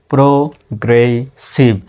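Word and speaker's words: progressive: এস আই ভি সি প্রগ্রেসিভ এখানে double S আছে মানে কি ডাবল এস এর উচ্চারণ সিঙ্গেল ভাবেই হবে ডাবল ভাবে উচ্চারিত হবে না। তাহলে উচ্চারণটা হচ্ছে প্রগ্রেসিভ এ এনডি এন্ড ই এন এল আই জি এসটি কি হয়?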